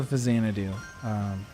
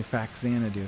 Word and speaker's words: Faxanadu: Also Fazanadu, or Fazanadu, or some people say Faxanadu. There's a lot of different ways people pronounce it.